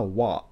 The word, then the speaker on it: は: But if you listened closely when I read this, I didn't say kono hana ha. I said kono hana wa kirei desu ne.